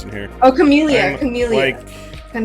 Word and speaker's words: Chamellia: Chameleia. Chameleia. Like a like a chameleon. Yeah. I I looked up the pronunciation. It's chameleia. Awesome. Chameleia. Like chamomile. Like chamomile.